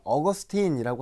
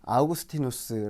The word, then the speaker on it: 아우구스티누스: 것 같기도 한 이름입니다 예전에는 업 어스틴 이라는 이름으로 많이 불려 졌는데요 아머 어거스틴 이라고 한다면 아마 여러분 아실 거에요 아니면 실제 발음으로 보면 아우구스티누스가 훨씬 더 정확하기 때문에 최근에는 어거스틴 대신에 아우구스티누스 라고 많이 이야기 합니다 여러분이 아는 어거스틴과 동일